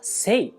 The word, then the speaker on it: せい: よねですが青いという漢字がせと読むことを知って